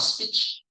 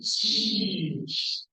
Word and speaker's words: speech: This is not a speech. It's a speech. So to make that sound, you have to pull your cheeks back like speech.